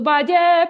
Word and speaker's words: valle: So yeah, so valle is rhymes with vale. So the only way to make it rhyme is he's not saying valley. Has to be saying valle.